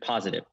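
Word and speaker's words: Pozative: okay let's go through them first one is positive positive positive positive yeah it's our review software so we get you reviews with positive it's pronounced spelled p-o-z-a-t-i-v-e um and so that's that's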